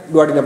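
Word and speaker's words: duodenum: अब ये आपकी मर्जी है, डुआडिनम पढ़े या डुआडिनम पढ़े, दोनों प्रोनाउंसिएशन ठीक है।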